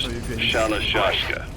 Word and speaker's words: Shalashashka: Someone must have known about that, because somewhere along the line, Shashka got stuck on the end of Sharashka. The guerrillas were using the name amongst themselves. By the time I got to hearing about it, pronunciation had wound up as Shalashashka.